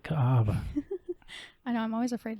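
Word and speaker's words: Kaʻaʻawa: Ka'ava. I know. I'm always afraid to say it. So I let you say it. Ka'ava. Kaawa.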